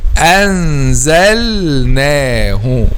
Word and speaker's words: أنزلناه: You have to say it like this, anzalnahu, without merging, clarify a lam and clarify a noon. Don't merge any one of them.